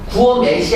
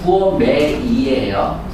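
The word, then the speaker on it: gourmet: 구어맷이 아니야. 발음은 구어매이에요. 구어매이.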